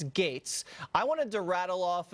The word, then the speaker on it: Gaetz: is kind of ridiculous it's etz it's pronounced gates but no one knows how to say that i'll tell them it's gates I wanted to rattle